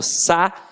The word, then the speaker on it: saída: Eu falo sa-i-da. O i tem som de i.